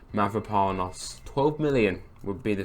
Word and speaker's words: Mavropanos: Let's move to the back of the pitch though and look at Kostanios. That's not how you say it. Mavropanos.